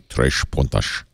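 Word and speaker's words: Três Pontas: Tres Puntas. T-R-E-S-P-O-N-T-A-S. That means 3 points in Portuguese. Tres Puntas. Actually, if I'm going to say it in Portuguese, it would be Tres Puntas, I was told.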